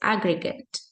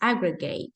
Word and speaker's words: aggregate: Okay, so here it says aggregate. So with the gate and for the noun with the gut.